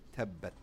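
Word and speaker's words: تبّت: So this example is tabat, whereas the correct pronunciation would be tabbat.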